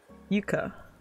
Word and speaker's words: Yuka: And her name is Yuka, because it's the Japanese pronunciation.